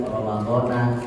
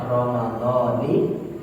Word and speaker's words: Ramadhani: Apabila diidofatkan, maka dia harus dibaca kasroh. Maka lebih tepatnya bacanya Ramadhani hadhihi sanati lillahi ta'ala.